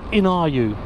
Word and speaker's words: iNiu: called i believe they're called in are you but it's it's spelt iniu and what they do